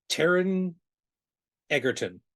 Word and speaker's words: Taron Egerton: picked Taron Egerton. Is that how we pronounce his name?